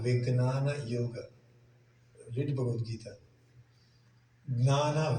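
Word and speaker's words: jñāna: Gnana Vignana Yoga. Not a Jnana Vignana Yoga. Gnana. That is very important on this pronunciation and make things changes.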